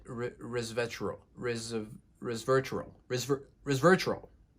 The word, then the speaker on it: resveratrol: is super bitter next we have resverter that's how you pronounce it resverter RIS of resverter res